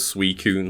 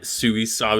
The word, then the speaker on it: Suicune: When everybody pronounces Suicune like Suisau or Suiswine. And it's like, okay, yeah, sure, that's your version, sure.